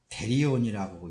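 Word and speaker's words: θηρίον: 짐승이라는 이 발음은 있잖아요. 데리온이라고 이렇게 헬라어예요.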